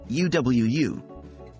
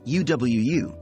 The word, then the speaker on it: UwU: in boot or loose and the second U is pronounced the same way the W is pronounced just like the English letter W when to use U Wu now that you know